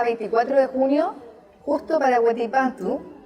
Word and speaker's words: Huetipantú: Estamos a 24 de junio, justo para Huetipantú. Dije bien, Huetipantú. Sí, muy bien pronunciado.